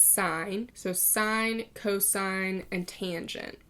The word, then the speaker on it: sine: I know it looks like sin it's not pronounced in its sine so sine cosine and tangent okay now sine